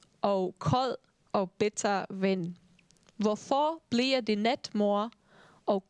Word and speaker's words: hvorfor: When a word in Danish starts with H, you don't really pronounce it. You start with the V sound. Hvorfor bliver det net mor?